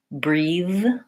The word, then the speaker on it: breathe: position and the voicing so breath voiceless breathe voiced I breathe today and then breathe breathe I breathe yesterday so we don't say anything for that vowel sound we have to go right from the th to the D basically it's a matter